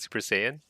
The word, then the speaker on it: Super Saiyan: How do you pronounce it? Super Saiyan.